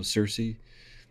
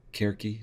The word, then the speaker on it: Circe: So Circe or Kerki, depending on Greek versus modernized anglicized pronunciation.